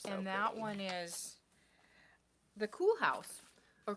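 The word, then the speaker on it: Koolhaas: oh my gosh and that one is the cool house or cool house by um Jared flood it's this pattern's been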